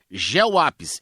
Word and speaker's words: Geoapis: Geoapis, g e o a p i s. É bem assim como se fala.